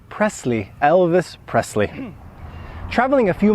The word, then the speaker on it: Presley: Poland Polish people say not Presley but Presley Elvis Presley never ever say Presley the correct pronunciation here is Presley Elvis Presley traveling a